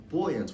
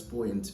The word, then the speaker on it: buoyant: The word buoyant can also be pronounced buoyant in American English if you have a more American accent or you're learning American English and you want to pick up American pronunciation. Buoyant is how to say it in American accent. Buoyant is how to say it in the British English accent.